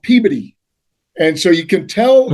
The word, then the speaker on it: Peabody: Yeah, it's spelled Peabody, but anybody who comes outside would call it Peabody, but you use it Peabody. So Peabody. Right. So somebody says Peabody, they've never. It's not right.